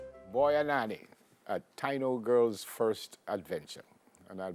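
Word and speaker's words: Taíno: It's Taino? Not Taino, Taino.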